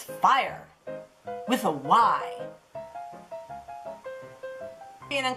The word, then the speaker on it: Fyre: do fire what no I know it's spelt with Y but it is fire exact time for our